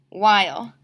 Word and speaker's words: while: But in order for this word to make the long I sound, we have to add the silent E into the last box. While.